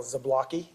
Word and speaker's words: Zablocki: the record please State your full name and spell it out my name is zablocki zablocki spelled z-a-b-l-o-c-k-i do you swear that the